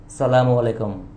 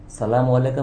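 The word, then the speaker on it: السلام عليكم: দেখা হয় কি বলেন সালামু আলাইকুম তাইতো বলবেন না সালামু আলাইকাম এর অর্থ জানেন তো আপনার ধ্বংস হোক আপনার নাশ হোক আসল উচ্চারণ বা আসল প্রোনাউন্সিয়েশন টা হচ্ছে সালামু আলাইকুম সালামু আলাইকুম অর্থাৎ ঈশ্বরের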